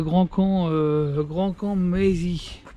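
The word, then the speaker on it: Grandcamp-Maisy: Je suis à Grand Camp, Mézy. Donc comme ça se prononce avec un Y à la fin.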